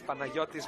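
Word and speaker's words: Παναγιώτης: In Greek, it's Panayotis Manidakis. Panagiotis. Panagiotis? Yeah, it's a Y sound.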